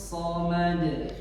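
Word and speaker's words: الصمد: Allahus Somad. 1 lagi. Allahus Somad. Yuk bersama 2 kali juga. 1 2 3. Allahus Samad.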